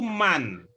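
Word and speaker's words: مَن: Ya, berikutnya ibu-ibu, bapak juga kalau ini ya, ini kata yang hurufnya mim dengan nun tadi beberapa kita dengar membacanya itu man. Ya, bacanya man. Gitu ya. Bedakan antara min dengan man.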